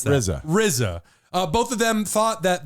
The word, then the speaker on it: RZA: RZA. How do you pronounce that? RZA.